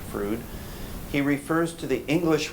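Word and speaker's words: Froude: of the diary of Rh frud that's how that's pronounced frud he refers to the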